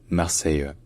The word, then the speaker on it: Marseille: sont passés au français ils ont gardé l'accent tique sur l'avant-dernière syllabe qu'il avait dans marseill donc c'est devenu Marseille en fait de manière